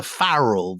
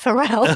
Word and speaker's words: Pharrell: I don't know whether you're into Farrell, the rapper. I'm into him so much that I know he's pronounced Pharrell.